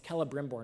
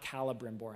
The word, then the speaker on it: Celebrimbor: She's like, "Don't say his name wrong. It's Celebrimbor, not Calibrimbor."